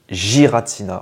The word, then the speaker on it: Giratina: qu'on dit Giratina ou Giratina et on le prononce Giratina voilà c'est comme ça qui doit être dit